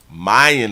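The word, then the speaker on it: Myon: Stillwater prison and so his name is Mayan Mayan is how they pronounce it Mayan Burell who walked out of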